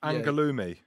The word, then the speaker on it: Angoulême: We've got the name here, but I can't pronounce it. Soyax Angoulême.